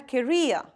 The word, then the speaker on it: career: Again, mind pronunciation, a career.